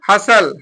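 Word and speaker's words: hustle: पर देखिए क्या है हसल हसल में टी साइलेंट है एच यू एस टी एल ई हसल में टी साइलेंट है इसको क्या पढ़ेंगे हसल एच ए एस ए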